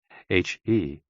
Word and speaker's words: he: HE, pronounced like her, with a yawn, which is associated with the heart.